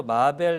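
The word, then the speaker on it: Marvel: 님께서 마벨 이구나라고 하시는데 이게 사실은 별 차이가 없긴 해요 예 뭐냐면 이게 발음 상으로 마블과 마벨의 중간 발음에 가까워서 이게 하 또 이게 또 한국어 나오는데 한국식 표기가 되면 마벨이 되는 거라서네 뭐 그렇습니다 그렇게 이해해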